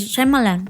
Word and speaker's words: Shyamalan: pero Y él mismo lo pronuncia, es Shyamalan. Shyamalan.